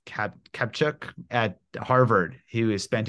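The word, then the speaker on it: Kaptchuk: So there's a researcher, Ted, I think his last name is pronounced Kapchuk at Harvard, who has spent his career studying the placebo effect.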